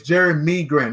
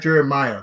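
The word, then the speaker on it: Jerami Grant: uh Elby Elie listen it's jerem m Grant not jerem Maya jerem M Grant you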